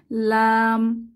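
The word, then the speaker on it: لام: দেখতে এর নাম হচ্ছে লাম লাম উচ্চারণের জন্য জিহবার আগা উপরের তালুকে স্পর্শ করে এবং দুই ঠোঁট এক হয়ে যাবে লাম লাম আমরা বলতে পারি জিহবার আগা উপরের তালুর সাথে লাগিয়ে লাম উচ্চারিত হয় আর যখন আমরা লাম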